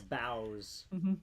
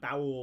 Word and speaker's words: boughs: I did the It's boughs as well. Boughs. Boughs. And it's spelled boughs. Not bowels.